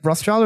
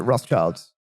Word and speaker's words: Rothschild: Because is it Rothschild or is it Rothschilds?